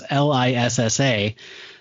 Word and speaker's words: Lisa: And that is, I was tortured for years about how you say her name because it's Lissa. So I mentally always said Lissa, but I did too until you told me.